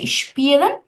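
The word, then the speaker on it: spielen: সেটা কি, এস এর পরে সবসময় ক্যাপিটাল, যদি কোনো এস দিয়ে কোনো শব্দ শুরু হয়, এরপর যদি ক্যাপিটাল টা যদি আলফাবেটটা যদি কনসোনেন্ট হয়, তখন এস এর উচ্চারণটা তালিকা শ এর মতো হবে।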